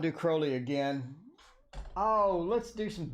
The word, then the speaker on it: Crowley: don't say Crowley okay Crowley like holy did he actually say that I thought that was a quote in his biography that he replied to somebody that was Crowley like holy rhymes with holy okay deposit we have